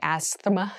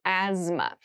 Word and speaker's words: asthma: asthma asthma asthma so this word has very interesting spelling there's a th in the middle but we don't say asthma we say asthma so kind of ignore that but try to remember it when you're spelling this word so asthma is a